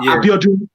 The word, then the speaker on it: Abiodun: But Abiodun You know when you say it, the N is silent, so you have to do.